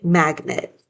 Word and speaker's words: magnet: Sometimes when you say it, this E sounds a little bit almost like an I. Magnet. That's because in the second syllable, that E really turns into a schwa sound, which is just like a lazy vowel. So instead of saying it magnet, we usually end up just saying magnet when we read or when we're talking.